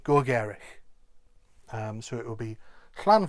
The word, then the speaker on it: gogerych: But I would say Gogerych.